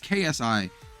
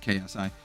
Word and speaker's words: Xi: It's KSI, if you didn't know. This is the... Sometimes it's written XI, but it's pronounced KSI. It's like, I think it's like Xi.